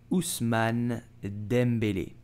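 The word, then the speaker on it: Ousmane Dembélé: will say Usman dembelish Usman dembele with an accent so you have to pronounce it did you know that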